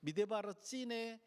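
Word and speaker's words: מדבר צין: 여기에 나와 있는 신광야는 히브리어는 찐입니다. 찐. 그래서 찐광야, 미드바르 찐이라고 해야 됩니다. 발음이 이제 표기를 그렇게 해서 뿐이지. 그래서 미드바르 찐의 가데스에 도착을 한 것을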